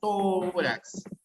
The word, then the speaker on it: tórax: o de las graves tórax palabra aguda no es es palabra grave que termina en x